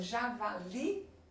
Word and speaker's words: javali: Então, javali, li é a mais forte, oxítona.